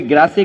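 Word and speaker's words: Grasse: France में perfume capital अगर है कोई, तो कोई ग्रासे कहता है, कोई ग्रास कहता है। वो एक प्रोनाउंसिएशन है कि इंग्लिश या फ्रेंच जो भी कुछ है।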